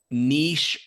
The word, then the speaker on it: niche: I've heard it said that niche rhymes with quiche and it should stay in France.